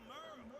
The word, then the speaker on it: Merle: Hey there, I'm Merle, spelled like Earl.